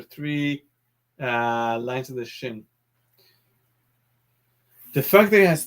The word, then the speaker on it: Shin: you write the letter if there's a dot on the top right we pronounce that shin this is s h